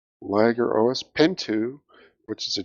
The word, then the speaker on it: Liguros: Fun2, Liger OS, Pin2, which is Liger or Liger? it's spelled Liguros, capital L, lowercase I, capital G, lowercase U-R. Liger. Liger OS? Like the lion tiger.